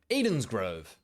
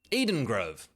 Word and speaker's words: Edengrove: Moving on to the territory with the most mispronounced name in the game, Edengrove. Edensgrove. Edengrove.